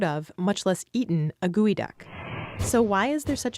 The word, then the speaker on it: geoduck: out of the way it may be spelled geoduck but it's pronounced gooey duck gooey ducks are the